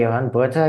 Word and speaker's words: Johan Botha: Uh yeah, as you you rightly say, Yan Bha, you've you've got that pronunciation just right.